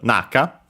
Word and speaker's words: 中: Uh yeah, we can start with it uh strictly Japanese reading which is naka accent on the first syllable. So high low uh and yeah that